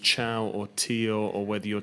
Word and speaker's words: Thiaw: Ja, also seitdem ich klein bin, eigentlich sagen viele den Namen falsch, aber der ist richtig ausgesprochen, Malick Thiaw. Ist wie Ciao hier in Italien, als ob du Ciao sagst.